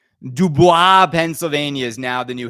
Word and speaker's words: DuBois: Oh, I've been pronouncing it wrong. It's not It's Dubois. Dubois, Pennsylvania is now the new headquarters for uh for Pinball Brothers in the United States.